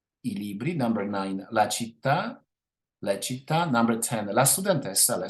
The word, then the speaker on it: città: Now in number nine, we have città. All the nouns with the stress on the last syllable do not change in plural number.